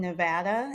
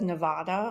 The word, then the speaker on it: Nevada: yeah, because everyone says Nevada all the time, and that is not right.